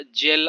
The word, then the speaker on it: gaol: इसका जो साउंड है आपका जेल आता है, GAOL, जेल, राइट।